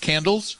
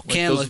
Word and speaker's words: Canlis: Isn't it pronounced candles? No, Canlis, but they're closing, and they are they're gonna have drive-through for hamburgers.